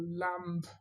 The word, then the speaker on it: lamb: So you still find students way up in intermediate who want to put a B on comb, or lamb or lamp for the meat.